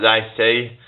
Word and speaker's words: Lacey: Alright, Essex, so what Lacey? It's like Lacey, it rhymes with Stacey.